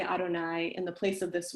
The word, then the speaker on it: Adonai: we say israel adonai so we pronounce this word that you see in hebrew on the screen as adonai meaning lord um but that